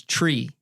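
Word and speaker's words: Twi: where we were, is Tree. Now that's spelled, Tim, you're taking notes over there. It's spelled T-W-I, but it sounds like tree. Naturally, that's pronounced tree.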